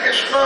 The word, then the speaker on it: कृष्ण: है नो नहीं है न है हरे कृष्ण हरे कृष्णा नहीं कृष्णा बोलते समय स्वास बाहर निकलती है हरे कृष्णा कृष्णा बोलते समय जीव आपकी दांत से टकराती है और जीव जब